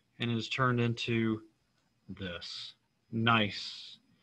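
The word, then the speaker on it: gneiss: is turned into this nice the g is silent but you can always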